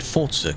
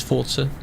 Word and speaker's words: Forza: Get used to calling it Forzer. Cuz that is how it's pronounced. Is an Italian word. The devs say it's Forza.